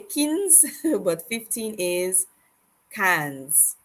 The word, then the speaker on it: quinze: I know you may be tempted to say quinze, but 15 is cans. Think of it like one soda can, but two soda cans.